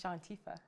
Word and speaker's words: Shawntifah: It's Shantifa.